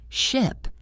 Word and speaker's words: ship: The vowel sound in ship is short and sharp. Ship. The vowel in sheep is long and stretched. Sheep. The length of the sound is the key.